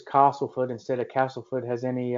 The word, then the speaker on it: Castleford: the fact she says Castleford instead of Castleford has any... I actually say Castleford because I always go with the locals. If they say it that way, that's how you say it.